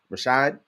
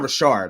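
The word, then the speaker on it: Rachaad: how you pronounce it it's it's r-a-c-h-a-a-d Rashad it's not Richard I know it's not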